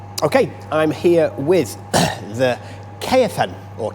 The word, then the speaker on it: Caofen: the Ola Grant okay I'm here with the Caan or calan if you want to pronounce it correctly but the kfn electric 125